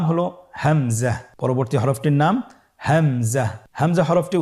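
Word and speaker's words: همزة: পরবর্তী হরফটির নাম হামজা। হামজা হরফটি উচ্চারণের ক্ষেত্রে বারিক করে উচ্চারণ করতে হবে এবং এখানে টেনে পড়া যাবে না। দ্রুত পড়তে হবে। আপনারা আমার সাথে বলুন হামজা হামজাহ হামজা হরফটি উচ্চারণের স্থান হা এর মতই।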